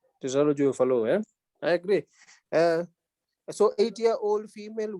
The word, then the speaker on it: Fallot: The T is silent. Tetralogy of Fallot.